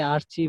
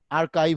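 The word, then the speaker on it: archive: Business site বলতে আমরা স্যার এটা দেখা কি যায় আর্কাইভ সাইট হবে নাকি আর্চিভ হবে? আর্কাইভ হবে, উচ্চারণটা হবে আর্কাইভ, বুঝছো?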